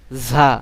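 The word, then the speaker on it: ز: র, ঝা, এটি আবার একটু শক্ত করে, ঝা।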